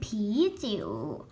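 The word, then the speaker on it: 啤酒: แต่ นี้ เป็น เบียร์ เบียร์ อัน นี้ คือ ผี จิ๋ว ผี จิ๋ว เดี๋ยว นี้ คือ เล่า นะ คะ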